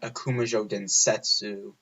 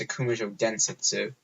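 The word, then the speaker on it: Akumajō Densetsu: the last three years by calling it Akuma joke densetsu it's not how you say it's a commercial densetsu that's how you're supposed to say it then anyway time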